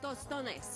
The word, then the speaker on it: tostones: Tostones.